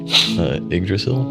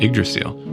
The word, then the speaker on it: Yggdrasil: Yggdrasil? Yggdrasil. Some people pronounce it different.